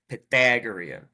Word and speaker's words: Pythagorean: for that word yeah say it like I would say it Pythagorean like it's a Chicago word pathetic there you go that's